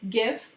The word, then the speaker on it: GIF: djpg png which is um a long name gif which is pretty much all those moving pictures and it is pronounced gif and bmp which is a bitmap